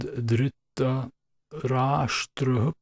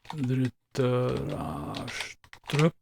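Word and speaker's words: Dhritarashtra: All right, so we have the intro here, and dhritarastrah is the first word.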